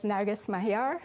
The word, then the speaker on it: Narges Mahyar: Computing uh as Michael said very correctly my pronunciation is narus Mahar my name pronunciation and uh currently I'm at